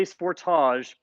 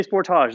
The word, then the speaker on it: Sportage: If you're American, I say Sportage because that's what it's called in Canada and Australia and many other parts of the world. So please don't write in the comments that I'm saying it wrong. I'm in Brantford, Ontario, Canada, and this is how I have to say it. You can ask Kia Canada. They will tell you that I'm saying it correctly.